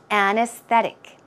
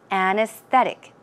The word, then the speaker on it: anesthetic: Another one, anesthetic, anesthetic, anesthetic. Stress goes right there.